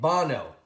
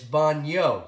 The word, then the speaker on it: baño: put the tilde over the in we would pronounce it bono but it's baño so you have to know the difference between